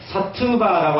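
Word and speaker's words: सत्त्व: 그러고 난 다음에 사트바라고 하는 건데, 이제, 비 발음은 이 와로 읽습니다. 보통 산스크리트.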